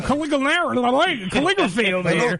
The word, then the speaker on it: Conigliaro: My last name is pronounced Conigliaro.